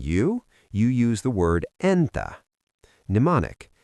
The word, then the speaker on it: entä: If I ask you Mitä kuuluu?, and you want to say "And you?", you use the word Entä. Mnemonic: Think of saying "And-ta thanks for asking!"